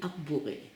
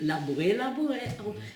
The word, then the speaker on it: Arboré: We didn't know until 1986 it was actually Arboré. The signs had been taken down to confuse any Germans or anybody else coming through the area. So the presence pronounced it Labouré. It's actually Arboré.